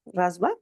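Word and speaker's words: Rishabha: La octava encarnación del rey fue Rasba, Rasba, así se pronuncia, hijo del rey Navid. Ah, Risaba, hijo del rey Navid y su esposa Merudibi.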